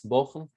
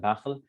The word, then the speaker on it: bukhl: Stinginess, bukhl, which, or I think we pronounce it bakhl, but this is maybe